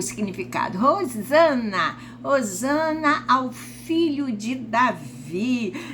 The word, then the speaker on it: Hosana: o significado no Novo Testamento dessa palavra a pronúncia é Rosana eh Essa é a pronúncia em hebraico e